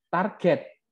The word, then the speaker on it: target: Nah ini, oh no, that's wrong, that's not target, target. Nah, karena G kan kalau dipronounce J ya. Iya enggak kalau alphabetically. Ya, tetapi ternyata target itu kalau pronounce dalam kamus receive pronunciation pun ucapannya adalah target, G bukan J.